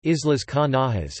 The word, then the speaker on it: Islas Canarias: The Canary Islands, Spanish, Isla Canarias, pronounced Islas Canarias, is a Spanish archipelago and the southernmost autonomous